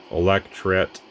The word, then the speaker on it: electret: It is a electret condenser, I believe is how you pronounce that. I hear people call it all different things. Electret, I think, is what it's actually called.